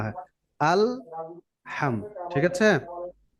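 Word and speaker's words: الحمد: চায় আল আলা আল এরকম যেন না হয় আলহামদ ঠিক আছে আলহামদ আলহামদুলিল্লাহি রব্বিল আলামিন আলহামদুলিল্লাহি রব্বিল আলামিন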